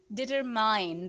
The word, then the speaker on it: determine: Last one word is determine, right? Determine. Mine. This is not determine. The right way to say is determine, determine, determine.